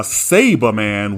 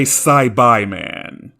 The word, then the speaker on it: Saibaiman: You wouldn't call this a Saberman, would you? However, if you call this creature a Cyberman, you're wrong. This is a Saibai man.